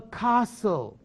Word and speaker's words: castle: next one the next one is called a castle castle ไม่ใช่ castle no no no t t ไม่มีเสียงออกเสียง t ไม่ได้ต้องใช้ castle a castle is a